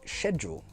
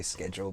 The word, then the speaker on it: schedule: For example, schedule. Yeah, we pronounce it schedule. Very different. Yeah. Very different. Although sometimes I say schedule because, You're becoming an American.